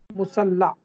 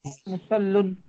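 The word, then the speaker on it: مصلى: Musalla. Sir, musalla we have to say. Or musallun. Musalla. Because it does not have any vowel at the end. It has alif at the end. Alif maksura.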